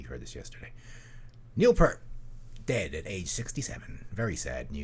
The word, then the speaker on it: Peart: Did you know it's pronounced Peart?